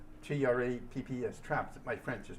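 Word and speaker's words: Trappes: And his mission was to drop flares on a the railroad tracks at a town called Traps. T R A Ps. Traps. My French is not but that's how it's pronounced.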